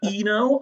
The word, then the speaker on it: Eno: You fucking Brian Eno.